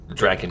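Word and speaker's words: Drakkon: To play as Lord Draken, excuse me, that is the official pronunciation.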